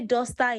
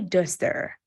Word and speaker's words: duster: God knew then you would not say dosta in his class he would send you out it would say duster just so you pronounce